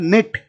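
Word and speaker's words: knit: उसके बाद में अगला है निट, निट का मतलब होता है कोई चीज बुनना, तो बुनने में निट में के जो है वो साइलेंट है।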